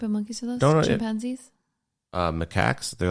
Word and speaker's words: macaque: Throngs of macaque monkeys, that is how you pronounce macaque, ran around, at times fighting with each other while the crowds of visitors and locals grew.